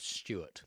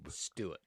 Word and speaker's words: Stuart: Because Americans don't have that pronunciation of ST or TU. It's the TU, which is the confuse. So they don't say they go on the tube. Right. Or Tuesday. They say Tuesday, tube.